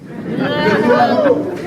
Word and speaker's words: Cthulhu: There's a big move to call this dark region, now tell me if I'm pronouncing this right, Cthulhu? Cthulhu, yeah, which is an H.P.